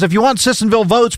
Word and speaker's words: Sissonville: Text says, if you want Sissonville votes, pronounce the town correctly. It's not Sissonsville. It's not plural.